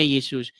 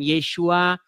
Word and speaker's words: Yesus: Nah, kemudian orang Indonesia ya mengucapkannya Yesus. Nama itu tidak masalah. Mau dia diucapkan Yesus, mau dia diucapkan Yesua, itu tidak jadi masalah. Yang penting orang diselamatkan itu bukan karena ngucap-ngucap, bukan karena cuap-cuap.